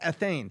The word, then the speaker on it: ethane: Not ethane, it's ethane. It was U.S.